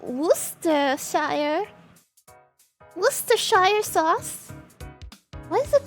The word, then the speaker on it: Worcestershire: I actually pronounced it right. Worcestershire sauce.